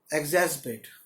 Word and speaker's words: exacerbate: एग्जैस्पेट, EXA, एग्जैस, R silent होगा, CER, BATE, एग्जैस्पेट।